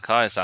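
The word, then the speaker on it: Keizer: how do you say his surname Kaiser ah Kaiser 9th of August 1910 and then he had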